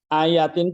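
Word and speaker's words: آيَاتٍ: Jadi ayatin itu jamak, tunggalnya apa? Ayah. Ayah. Ayat. Jadi ayatin, makanya bacanya harus ya-nya panjang.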